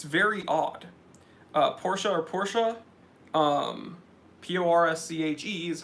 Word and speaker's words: Porsche: And it's just a little bit abbreviated from Porsche. I think you can say both. But yeah, people that don't understand that Porsche is pronounced Porsche and not Porsche, that's a little weird.